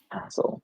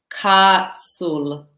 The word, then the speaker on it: castle: we do not pronounce the T in castle, so it's just Right. castle. Okay. This is how you. So this is the spelling castle, but the sound castle.